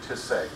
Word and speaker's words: Tisei: As was mentioned, well, I guess the first thing is you pronounce my last name Tisei, very important.